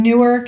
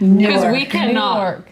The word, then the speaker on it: Newark: city that's just gross so how is it pronounced newk new Newark newk newk Jersey new newk it sounds just like New York the phone we were